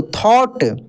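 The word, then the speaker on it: thought: H silent रहता है जैसे देखिए टी एच ओ यू जी एस टी तो जी एच साइलेंट हो जाता है कैसे पढ़ इसको थॉट बी आर ओ यू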